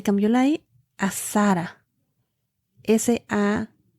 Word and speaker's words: Sarah: Y se pronuncia Sarah. En inglés tiene una H al final. Se escribe S-A-R-A-H.